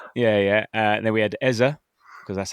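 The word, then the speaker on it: Eze: Then we had Eza because that's how we should pronounce it.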